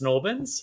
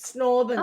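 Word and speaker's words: St Albans: And everyone used to say it, Schmitty, you would probably know this, St. Albans gets pronounced Snorbans. Snorbans.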